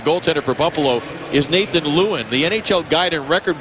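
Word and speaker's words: Lieuwen: pronunciation of the goaltender for Buffalo is Nathan Lewin. The NHL Guide and Record Book phonetically said it was Lewin, but I'm told that it is Lewin, so we want to get that correct and apologize for the misunderstanding.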